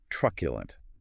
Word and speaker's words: truculent: Truculent. Pronounced T-Ju-agulant. Jurisculant. Clear articulation is key here, breaking down those three distinct syllables. A slurred middle syllable completely muddies the word.